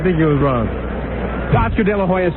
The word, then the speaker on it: De La Hoya: Now that he's big and famous, you have to say it the way it's pronounced in Mexico. How is that? De La Hoya or something. De La Hoya.